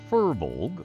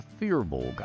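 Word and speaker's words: firbolg: either is correct that that type of gigantic creature is a fur Vogue or a fear vulgar either one is correct if you look the way it's spelled and try and pronounce it phonetically you'll probably come out for a bulg and that's okay they're just gonna hit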